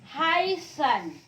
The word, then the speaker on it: heißen: Sekali lagi B ini B kaki panjang, jangan bacanya B tapi bacanya dia S. Contoh heißen.